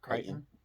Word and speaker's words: Creighton: Princeton and creek creek how do you say it Creighton yeah why is the E there if I'm not gonna say it just kidding uh I'm